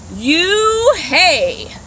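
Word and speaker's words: Unhei: spelled u n h e i and it's pronounced it's you hey the boy said like hey you hey hey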